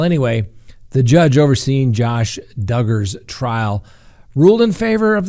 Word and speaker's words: Duggar: Next on the docket, let's talk about Josh Duggar. And for all of those that hate it, that's right, rhymes with hugger, okay?